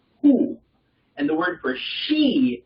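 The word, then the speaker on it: הוא: The word for he, H-E in Hebrew is who.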